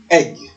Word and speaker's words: egg: dans le mot F même si ça se fait avec un e on dit on dit egg donc ça se prononce